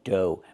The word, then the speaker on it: dough: Pronunciation dough. Make the long O like no and go. And the gh is silent.